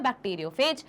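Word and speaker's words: bacteriophage: बैक्टीरियोफाज भी बोलते हैं, बैक्टीरियोफेज भी बोलते हैं, ठीक है, फेज वाला बोलना ज्यादा करेक्ट है, पर कुछ लोगों का प्रोनाउंसिएशन रहता है, कुछ प्रोफेसर्स लोग कहीं बुक में लिखा रहता है तो फाज भी बोला जाता है।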